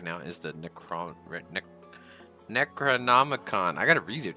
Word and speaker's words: Necronomicon: So, our current book right now is the Necron Nec necronomicon. I got to read it to be able to say it right. I always want to say Necroicon.